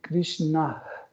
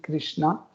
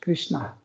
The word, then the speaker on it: Krishna: savent que, en fait, on dit Krishna. Il y a un H à la fin. Mais la plupart des gens qui n'arrivent pas à prononcer ça, ils disent Krishna. Mais à la fin, on a un H, Krishna. C'est difficile pour prononcer, mais cette lettre existe, Krishna, et qui veut dire Nara Narayana Rishi.